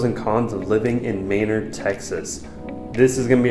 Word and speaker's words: Manor: Manor m a n o r but it's pronounced mayor so so if you call it mayor around